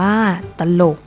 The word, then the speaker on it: ตลก: เป็น ตัว นำ เช่น ตลก อ่าน ว่า ตลก จรวด อ่าน ว่า ว่า